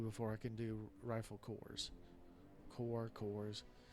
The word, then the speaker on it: corps: do rifle cores corkers the plural of core whatever it is I know it's a French word and they in many cases do not use the you know they don't pronounce the S so even in the plural form that a lot of times they don't pronounce s which doesn't bother me